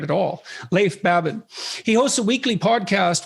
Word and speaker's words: Leif Babin: babin would i pronounce that right it's actually leif babin oh so i didn't pronounce it right at all leif babin he hosts a weekly podcast with brazilian jiu